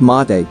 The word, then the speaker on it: mate: national musical instrument paraguayan harp national drink mate pronounced mate is often served hot when it is served